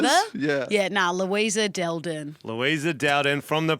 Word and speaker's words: Dal Din: Is that how I pronounce it? Dal Din? Dal Din.